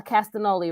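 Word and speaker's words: Castagnoli: Moxley Yuda no not Yuda I'm sorry a castanoli right that's how you say it um and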